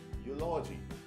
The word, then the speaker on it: eulogy: It says eulogy. You can just relate this particular term with another word, biology.